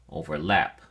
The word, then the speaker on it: overlap: at your flash card overlap has three syllables and your emphasis or stress is on the third syllable lap so we say overlap overlap it is used only